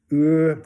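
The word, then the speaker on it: עור: And stirred here in chapter 1, verse 14, the Hebrew is ur, or ur is the pronunciation. It's U-R, and you pronounce it O-O-R.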